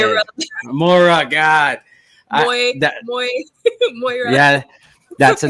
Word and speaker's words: Moira: awesome guest good friend of mine uh miura i think i said it wrong again you even told me how to say it mora god yeah that's a name i have never